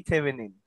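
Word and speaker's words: Thévenin: সেটাকে বলা হয় ভি থেভেনিন। ভি থেভেনিন, থেভনিন অথবা থেভনিন এইরকম উচ্চারণটা, ভি থেভেনিন বলে এটাকে।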